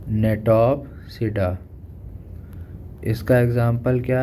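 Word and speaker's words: Gnetopsida: फिर है नेटोप्सिडा, जी इसमें साइलेंट है, जी, नेटोप्सिडा, इसका एग्जाम्पल क्या है, गिनेटम।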